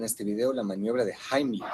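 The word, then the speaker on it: Heimlich: video la maniobra de Jaime que por cierto esa es la pronunciación correcta porque está en alemán la mayoría de ese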